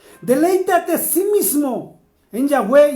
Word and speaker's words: Yahweh: asimismo, nosotros mismos, en Yahweh. Lo estoy pronunciando en hebreo, para los que están entrando en este momento.